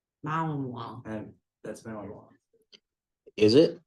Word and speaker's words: Malinois: Malinu? Malnois. Malinois.